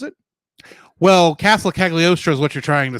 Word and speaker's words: Cagliostro: the third castle of casc how do you pronounce it well castle cagliostro is what you're trying to say but i